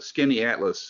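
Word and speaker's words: Skaneateles: stunning absolutely beautiful and skinny atlas looks like it would be spelled s-k-i-n-n-y atlas and it's not it's not even close can you spell it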